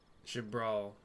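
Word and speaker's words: Xbr'aal: Shabbr is is how that's pronounced.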